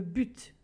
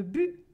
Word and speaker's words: but: Dans le sud de la France, on prononce le T, le but. Au Québec, par exemple, on ne le prononce pas, le but.